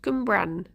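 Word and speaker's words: Cwmbran: Um how is it's pronounced Gumbran.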